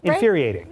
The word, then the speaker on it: infuriating: absolutely infuriating or cute and that extra syllable there infuriating that's right cnn's jeremy